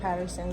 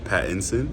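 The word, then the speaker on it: Pattinson: My girl Zena is in it and love to support her and Robert Patterson, so you know. Yeah. Did I say his name? No, but it's fine. Patson.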